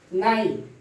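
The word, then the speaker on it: night: जी एच, जब भी जी एच के बाद टी आ जाए तो जी एच का प्रोनाउंसिएशन नहीं होगा। पहला है थाट, थाट, फाइट, नाइट।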